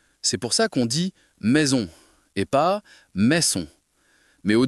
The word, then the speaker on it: maison: un mot comme maison, je suis tenté de dire mais son avec un S sec. Mais en réalité, il faut faire un son de Z. Exactement. Tu touches à un point important. En français, le S entre deux voyelles se prononce comme un Z.